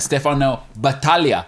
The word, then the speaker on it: Battaglia: We'll have Stefano Battaglia, I've been told is how you say it.